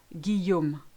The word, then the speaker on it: Guillaume: When you've got ILL, AIL, EIA, L, the L sound totally disappears. So listen to those examples. Vieille, aille, travail, famille, fille, soleil, Guillaume. I think you get the idea. You just replace it with a long E and you'll be fine. Imagine you've got a Y there, especially in the name Guillaume.